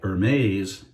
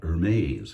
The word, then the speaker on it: Hermès: And I've never smelled H24 by Hermes. Am I saying it right? Hermes, I would say, but Hermes.